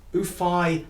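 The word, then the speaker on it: Xuefei: Anyway, I got this one out, the first one, and it's Rodrigo's Guitar Concerto by, I'm not sure how to say her name, I think it's Ufei Yang. It's spelled X-U-E-F-E-I.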